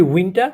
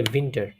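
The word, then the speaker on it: Winter: ইয়া, আমরা বলি উইন্টার, তারা বলে উইন্টার, যেহেতু এটা ভে উচ্চারণ, উইন্টার।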